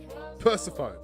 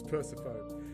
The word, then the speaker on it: Persephone: Persephone.